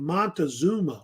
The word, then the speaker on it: Montezuma: And the current ruler of the Aztecs was a man named Montezuma or Moctezuma. He's pronounced either way. It's fine.